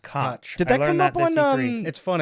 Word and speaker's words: Koch: I said, no, it's Coke, but it's not the Koch brothers. Yeah, right. And because it's not the Koch brothers, that led to that. They're from a different country, and there it's pronounced Koch.